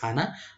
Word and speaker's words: HANA: itself been you know pronounced popularly as hana but a few analysts